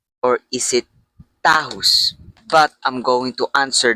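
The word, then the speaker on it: Takis: And the real answer about how to pronounce this thing, it pronounced tatus, okay? I don't care to the people who call this tahus. I'm going to say it. WL manufacturer who manufactured this thing confirmed that this pronounced tatus and not tahus.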